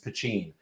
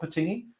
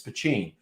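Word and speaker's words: poitín: told me in guelga it is pachin that's how you say it so that's a little factoid you can get one up on your friends it's not patini it's pacing and this one is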